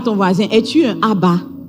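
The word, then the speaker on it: אב: Le mot père est prononcé ab.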